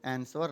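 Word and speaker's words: answer: तो वो लेटर है W, आंसर। यहाँ पे W के उच्चारण नहीं होता है, V का उच्चारण होता है, तो इसलिए इसका जो साइलेंट वर्ड है वो कौन सा साइलेंट वर्ड है?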